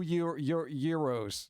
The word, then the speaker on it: gyro: you go in there you say you want a gyro nobody ever even even the Greek the Greeks that actually sell it they call it a gyro because they know if they say Euro everyone's gonna be like it's called a gyro just give it to